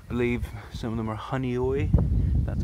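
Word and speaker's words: Honeoye: Believe some of them are Honey Oi, that's how you pronounce it.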